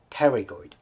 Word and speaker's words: pterygoid: This is medial pterygoid. Medial pterygoid. You do not pronounce it first letter of P, okay? This is medial pterygoid.